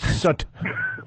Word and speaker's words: soot: It's soot. You non-pronouncing ass.